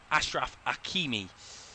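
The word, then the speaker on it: Achraf Hakimi: Bui Unahi down the right to H Ashraf Akimi to say it correctly.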